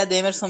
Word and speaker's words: Edemerson: Pronúncia tá correta, é Edemerson mesmo. O acento é aí no segundo Em relação a um